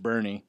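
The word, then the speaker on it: Boerne: is in B which is uh or it's pronounced Bernie it's a about in the same area East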